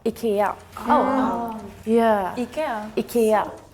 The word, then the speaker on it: IKEA: Yeah, and everyone pronounces it differently. Yeah, from what it's actually called. What is it actually called? IKEA.